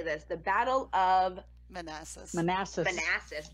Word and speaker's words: Manassas: The Battle of Manassas. Manassas. Manassas. Oh, it's like molasses minus the Yep. L. Yes, Okay. Manassas.